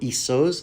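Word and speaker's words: Essos: went into into exile to Os or isos depending on how you choose to pronounce it h where he is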